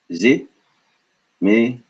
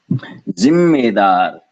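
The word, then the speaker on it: ज़िम्मेदार: So this is zimedar, zimedar. Interestingly, though, it's spelled this way. Zimmedar. You hear the pause? Zimmedar. It's not a pause. No, this is an extension.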